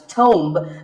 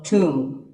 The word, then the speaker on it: tomb: It's often wrongly pronounced as tomb, but the B is silent and the O is pronounced with an oo sound. So tomb.